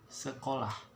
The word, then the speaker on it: sekolah: Okay, it's a very vocal word. Okay, it got E, they got O and A on the back, so the pronunciation would sound like this: sekolah.